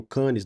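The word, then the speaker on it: Cannes: Lens é Lan né tem o canis não é canis é can né o renis não é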